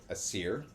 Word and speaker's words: Aesir: The Aesir, or that's my understanding of its pronunciation. It's A-E, they're kind of joined together. S-I-R, and then what I have deciphered as Vanir, V-A-N-I-R, which you pronounce as Vanir.